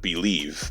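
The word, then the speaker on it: Bleav: Now, the channel is called Believe, but it's spelled B-L-E-A-V.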